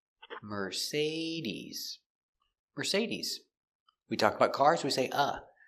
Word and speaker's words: Mercedes: Say we pronounce the second syllable say. Mercedes.